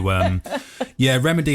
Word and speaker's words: Rehmidi: So Rehmidi, and the way that it's spelt refers to my Moroccan family.